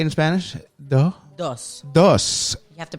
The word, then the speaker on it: dos: Dos. You have to pronounce Dos. the S. Dos.